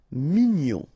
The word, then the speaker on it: mignon: Here in that case, G-N-O-N, nion. Mignon.